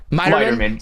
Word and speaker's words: Meiterman: Meiterman, pronouncing that right? Meiterman. See, I knew it would be something weird with the I.